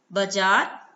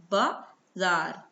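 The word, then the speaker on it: बाज़ार: बाजार, बाजार अशुद्ध शब्द है, शुद्ध शब्द क्या है, बाजार, बाजार। ज के नीचे देखिए छोटी सी बिंदी लगी है। ठीक है, तो इससे इसका उच्चारण ज हो जाता है, बाजार।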